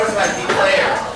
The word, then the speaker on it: declare: go so here for number six is for declare declare declare de so here for the player